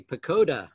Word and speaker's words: Pochoda: She's going to be discussing her really fantastic new novel, The Distant Dead, with Ivy Pochoda, and I got it right this time.